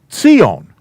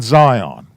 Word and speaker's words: Zion: a saudi not a sign so it is pronounced sion not zion okay and it's just it's just things that